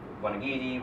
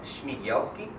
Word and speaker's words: Smigielski: When we've been doing that already with Smigielski, with Robb, and some others in the past few months.